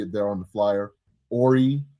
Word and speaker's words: Horry: Horry, Horry, the H is silent.